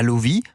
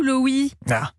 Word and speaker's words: Loewi: de vos nouvelles alors Lovi ou loui alors ça se prononce li vous vous aviez juste